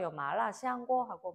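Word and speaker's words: 麻辣香锅: 자, 대표적인 음식 마라샹궈, 마라샹궈로 우리가 알려져 있는 마라샹궈, 중국 발음은 마라샹궈이고요.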